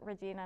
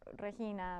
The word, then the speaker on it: Reina: a long process and people still sometimes call me Regina and I have to correct them like oh I go by Reina it's the Spanish pronunciation A lot of uh